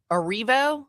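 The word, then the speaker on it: Erivo: Cynthia Orivo.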